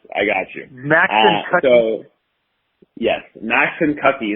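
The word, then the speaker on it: Maxinkuckee: got you max yes max and cocky that is how you pronounce that um it is it is a tricky one and it took me a while to master that um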